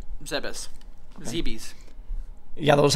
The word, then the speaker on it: Zebes: It's Zebes. Look it up. How do you pronounce it?